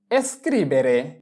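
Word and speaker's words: scrivere: এরপরে এস্ক্রিভেরে এস্ক্রিভেরে এস্ক্রিবেরে মানে লেখা। এস এস জি এর ই ক্রি এস্ক্রি বি এ বে এর এ রে এস্ক্রিবেরে মানে লেখা।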